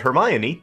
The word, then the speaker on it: Hermione: also I learned that Hermione is pronounced her mind part of your brain